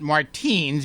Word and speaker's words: Martines: that correct that is absolutely correct but you pronounce it martinez because you want to be different is that